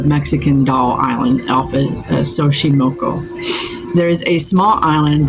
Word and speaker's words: Xochimilco: So just south of Mexico City, between the canals of, how do you pronounce that? Xochimilco? Yeah, this is off of Xochimilco.